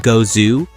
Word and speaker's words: Gose: Gose, pronounced go-zoo, is a German sour wheat beer brewed with coriander and salt.